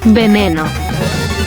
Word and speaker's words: Veneno: 20000 credits Veneno (This is the Spanish pronunciation) I gave Veneno 3 stars.